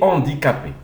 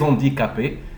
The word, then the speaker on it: handicapés: Alors on ne prononce ni ha comme en arabe ni ha. On prononce comme si le H n'existe pas. D'accord? Alors D plus handicapé. Alors ça donne des handicapés.